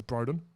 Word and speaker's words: Broden: Last guest we had in, I pronounced his name wrong. I got that right. It's Broden.